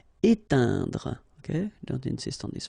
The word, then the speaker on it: éteindre: Éteindre. Okay, keep in mind that when you get this E, I, N together, it will produce the sound un. Éteindre. Okay, don't insist on this final here. Éteindre.